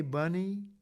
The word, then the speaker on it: Bunny: about her before aka bunny b-u-n-n-y rhymes with funny and she was funny